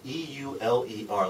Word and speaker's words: Euler: and by the way, E-U-L-E-R, looks like it ought to be Euler if you're an American. If you're German, that's pronounced Euler, so that's how I'm going to pronounce it.